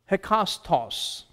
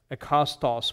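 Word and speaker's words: ἕκαστος: And again, there's a rough breathing there, but to pronounce it according to Koine or modern Greek, you omit those rough breathing marks or the diacritical sounds marks and just read it as ekastos, which is each and every.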